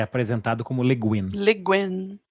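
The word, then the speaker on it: Le Guin: quem então assim ó desculpa a pronúncia é leguin leguin Ok é vocês dois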